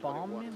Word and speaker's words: Bowman: And so I looked up BOWMAN, but it's actually like Bowerman, like Bauman, like BA. Yeah. Yeah. I think Bauman. Yeah, it's the way it's pronounced is German.